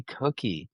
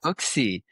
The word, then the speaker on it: Cooksy: Excited to be alongside Betsy Cookie. Oh my gosh, I mispronounced your name. Betsy Right. Cooksy. Betsy Cooksy.